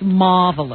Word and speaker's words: marvelous: That R is never pronounced. It's marvelous.